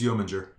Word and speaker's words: Yeomanger: And this chasm was forged when Yeomanger, was it? Jur. It's Yeomanger. Okay. That's how he's pronounced.